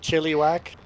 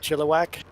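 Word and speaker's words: Chilliwack: get a lot of chili whack you're saying it wrong too like like you get do you get asked that often if you live in chiliwack instead of chillak uh if they're in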